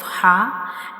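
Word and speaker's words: ح: And it is also called throat letter because it is pronounced from the throat. Our throat has three portions: bottom, middle and upper portion, and ha is pronounced from the middle part of the throat. Ha is pronounced from the middle part of the throat, like ha.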